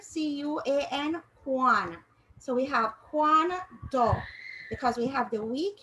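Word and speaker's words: cuando: juan so we have juan do because we have the weak u and the strong a all right and you more you will more hear the a sound than the u sound then when you have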